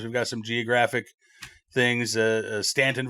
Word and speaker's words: Staunton: Stanton, Virginia looks like it should be Staunton, things of that nature.